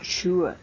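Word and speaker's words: Chur: Ted Aro up to I think you pronounce it sure c h in Switzerland and Legend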